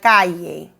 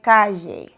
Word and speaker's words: calle: If you are in Mexico or Spain, it would be like calle, calle. You see? A slight y sound. In Venezuela or Colombia, it would be like calle, like calle.